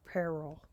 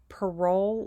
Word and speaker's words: parol: parole evidence rule or peril now a lot of people pronounce it parole like uh being on parole with an e at